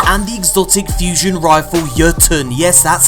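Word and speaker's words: Jötunn: exotic bowler Monarque and the exotic fusion rifle Jotuun. Yes, that's how you pronounce it.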